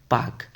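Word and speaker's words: Palk: पी ए एल के बट आप लोग पालक के मत कीजिएगा। इसे क्या कहेंगे? पाक।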